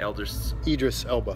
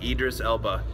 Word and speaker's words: Idris Elba: great character played by I always say his name wrong elder cedrus elbow idris elba i would say l dressed